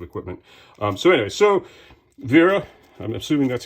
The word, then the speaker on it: Wera: um so anyway so Vera I'm just assuming that's how it's pronounced because the Germans often do the W's as v's and the v's is W so Vera hex Plus multi-color comes